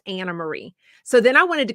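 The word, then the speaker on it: Anne Marie: some country a n NE Marie but it's pronounced Anna Marie so then I wanted to go back and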